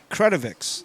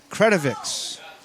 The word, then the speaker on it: Kredovix: So is it Kredovix? Yep, Kredovix. That's what Yep. I have a line over the first syllable to remind me to put the emphasis there. Kredovix.